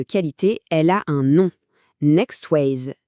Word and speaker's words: NeXways: Et cette garantie de qualité, elle a un nom, Next ways. Notez bien, ça se prononce next way et jeu.